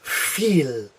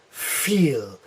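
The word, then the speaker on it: viel: forgot to put here a V always sounds like an F yes so the word like this is feel feel or the number four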